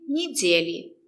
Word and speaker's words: недели: «Е» is not stressed. We pronounce it as «ни». Недели. The stress is on «де». Недели.